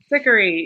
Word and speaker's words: Terpsichore: I don't know how to pronounce Terpsichore. that. Oh, of course. Yeah, Terpsichore.